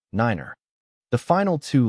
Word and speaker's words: niner: The N in the call sign represents the phonetic word November and each digit is pronounced individually using the corresponding word in the phonetic alphabet 1 6 niner.